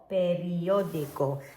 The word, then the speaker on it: periódico: So can we see we've got these I-O-D-I-K-O, periódico. And that's really important, remember, for these vowel sounds for your pronunciation.